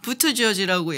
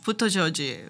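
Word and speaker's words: Buttigieg: 그래서 처음에는 부티기기그냐 막 네. 그래서 물어보잖아요. 나중에 사람 너 도대체 성을 뭐라고 발음하는 거냐? 했더니 부트지어지라고 얘기를 하더라고요. 부트지어지? 부터지어지.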